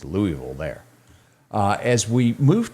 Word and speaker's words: Louisville: louisville over the weekend if they don't say it like us lewisville is louisville there uh as we